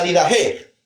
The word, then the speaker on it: Didaché: Entonces se pronuncia como J, como CH o como Q.